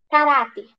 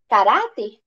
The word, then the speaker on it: caráter: se classifica em caráter Qual que é a sílaba tônica ra Então qual que vai